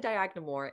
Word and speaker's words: Dyagnamor: And instantly I got very beautiful comments from people who have been, like when you said Dyagnamor, it killed me.